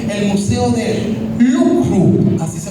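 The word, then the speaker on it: Louvre: ver porque es que tiene una pronunciación entre el francés, el inglés, el español, el museo de LW, así se pronuncia.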